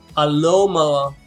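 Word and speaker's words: Alomomola: the late game, especially once I can never pronounce that name. What is this guy's name? It's Alomola. There you go. Aloma Mola.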